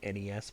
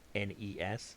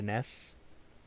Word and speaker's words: NES: It's called the NES, by the way. That's the proper way to say it. NES. Say the letters. If you're calling it a NES, you're wrong. You're just wrong.